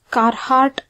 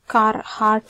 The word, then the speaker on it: Carhart: In this video, let us look at what this carart snot notch is. Okay, carart snch or carart notch or kahart notch if r is silent.